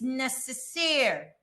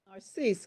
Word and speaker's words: Narcisse: Representative or member Mercedes Necessaire. Narcisse, Kim Robinson for Council Member Mercedes Narcisse.